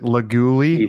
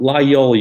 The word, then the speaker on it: Laguiole: How do you pronounce it? Laguli? Lagule? No, Layol, you motherfucker, you.